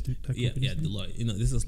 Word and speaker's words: Deloitte: Is that how you pronounce it? Yeah, Deloitte.